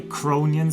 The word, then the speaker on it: Cronian: You should say Cronian system. You know that's the correct way to say.